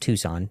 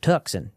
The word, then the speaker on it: Tucson: Yes, it's pronounced Tucson, not Tuxen, despite the accent you might hear there.